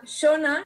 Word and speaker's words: Shauna: I efectivament hi ha una versió femenina que es diu Shauna, però es pronuncia Shona, i a mi em feia molta gràcia.